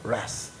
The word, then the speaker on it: wrath: us from the coming wrath. 그분이 바로 rescue라는 건 뭐야? 응급 구조하는 거야. 뭐로부터? the coming wrath. wrath는 뭘까? W는 묵음인데 여기 뭐라고 했어요?